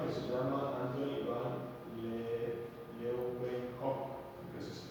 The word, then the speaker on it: Leeuwenhoek: La descubre este señor que se llama Anthony van Leeuwenhoek, que así se pronuncia.